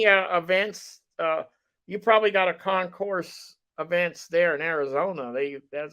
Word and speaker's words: Concours: Arizona started its own Arizona concourse. Yeah, very good. very nice show. Excuse me, gentlemen, it's Concours. You don't pronounce the Sorry.